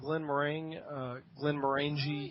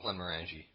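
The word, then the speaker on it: Glenmorangie: I'm drinking some Glen Morangi. Yes. What year? 10-year. Okay. I love Glen Morangi.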